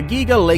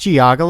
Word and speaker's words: Geauga: Big Dipper located in Bainbridge Township Ohio the giggle a cam use Makara giggling giggling hmm it's pronounced Geauga Lake also you're showing the wrong Big Dipper